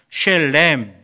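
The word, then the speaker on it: שלם: 자, 제가 한번 발음을 해보겠습니다. 쉘렘, 비슷하지요?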